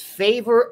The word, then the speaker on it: Favour: It's Favour Akih. Favour Akih. That's what I thought. Okay, Favour Akih. All right, he is the number 14, committed to Ohio State yesterday. Favour Akih, local kid, Delaware Hayes.